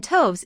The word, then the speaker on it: toves: as in writhe and toves is pronounced so as to rhyme with groves again the first o